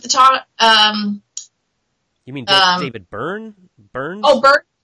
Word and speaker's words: Byrne: What's David Barnes? Do you remember him? He was the lead singer of the top. You mean David Burns?